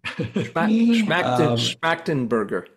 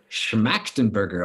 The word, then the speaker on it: Schmachtenberger: Uh Daniel Schmachtenberger. Schmachtenberger. Schmachtenberger, okay. I mispronouncing it all this time.